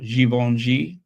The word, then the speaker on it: Givenchy: Well, Fendi with the letter F upside down and right side up, and Givenchy with their 4 G's, one for each syllable. Givenchy. No, that's 3 syllables.